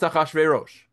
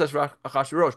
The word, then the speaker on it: Achashverosh: It's pronounced Achashverosh. It's pronounced Achashverosh, but you can see,